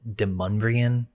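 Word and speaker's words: Demonbreun: And by the 1760s, there's this French-Canadian guy named Timothy Demonbron. The locals pronounce it Demonbrian. It's spelled demon though.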